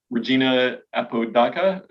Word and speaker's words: Regina Apodaca: come up and um your name uh would be pronounced regina apodaca or okay excellent um